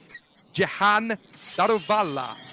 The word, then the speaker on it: Jahan Daruvala: His name, folks, is pronounced, and this is for any commentator who wants to do this in the future, Jahan Daruvala. That's how you say his name, because he's from India.